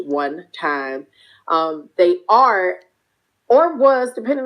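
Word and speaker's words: 1TYM: in a capital tym it is pronounced one time they are or was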